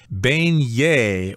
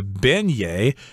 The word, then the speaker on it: beignet: to talk about something called the beignet or the beignet I guess people pronounce it different ways I've never studied